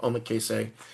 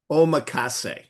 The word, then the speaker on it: Omakase: they go into the sushi restaurant to have Omakase. Um and if I am butchering how that's pronounced I'm going to just a second. I'm going to I'm going to solve my problem. Hold on. Omakase.